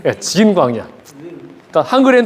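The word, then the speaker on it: Zin: sin 와일더니스 오브 신이고 여기는 와일드니스 오브 진 그 영어 알파벳 중 제일 발음하기 어려운 거 마지막 알파벳 발음 좀 해 주세요 진 광야 그니까 한글에 다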